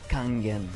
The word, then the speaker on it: Kangen: C'est pas Kameng. Non non, c'est pas Kamgang. C'est comment on prononce la prononciation ? C'est c'est Kangen. Kangen Kangen Water.